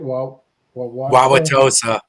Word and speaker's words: Wauwatosa: Wauwatosa.